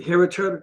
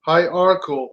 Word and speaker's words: hierarchical: The heretical leadership, the heretical, yeah, that's what I said. Heretical. Heretical. I said it right. Hierarchical. Right. That's what I said. Hierarchical. Right.